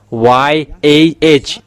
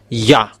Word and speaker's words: Yah: So if we um read it together the result is y a h it's yah.